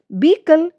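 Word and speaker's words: vehicle: Sorry व्हीकल ये हमारा right है। इसमें एच साइलेंट है।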